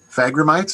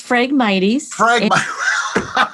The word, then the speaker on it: Phragmites: Phragmites, am I close? Well, that's one way to do it. It's I don't know how to pronounce it. How's it pronounced? Yeah, it's Phragmites. I wasn't even close, Marsha.